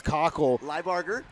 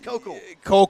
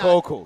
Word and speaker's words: Kokel: Maddie LeBarger, Alexis Cockle. Liebarger. And Alexis Kokel. Yeah, Kokel. Got it.